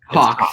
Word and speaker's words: Haack: Now, Ryan, I have to ask the pronunciation of your last name because I don't want to screw it up. Haack.